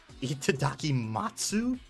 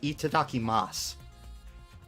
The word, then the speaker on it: itadakimasu: it to his mouth what a delicious meal itadakimatsu isn't that thank you for the meal it's itadakimasu is how it's pronounced i actually just heard that in a